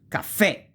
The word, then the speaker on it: caffè: tronche, tronche mean truncated, if the accent goes on the last syllable. And here usually you have a graphical accent, like caffè. You see, you have the accent and you pronounce it, caffè, coffee, virtue, happiness, virtù, felicità, right?